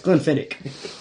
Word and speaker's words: Glenfiddich: It's Glenfiddich.